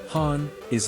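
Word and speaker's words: 本音: Han is a Japanese word pronounced hani and it means what people really think, not the polite version.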